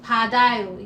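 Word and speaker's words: 받아요: So there is a D here, padayo. You just pronounce the D with the A, padayo, to receive something.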